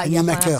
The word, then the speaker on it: Animaker: Et Animaker, ça s'écrit comme ça se prononce. Bon, alors Voilà. c'est tout pour aujourd'hui? Bah, écoute, c'est tout, oui. Je vous propose... Animaker, c'est lié, c'est pas... Animaker.